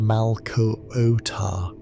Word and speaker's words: Malkuta: Malkuta is pronounced Malkuota, with emphasis on the middle syllable and a soft final ah.